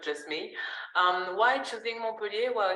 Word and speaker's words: Montpellier: Some pronounce Montpellier, but we don't pronounce the T usually. So Montpellier is the name of